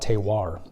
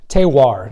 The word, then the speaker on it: terroir: you want to say terroir. Try to say it 10 times, it's really hard. Terroir. What is it? Well, it comes from the French, as you can tell.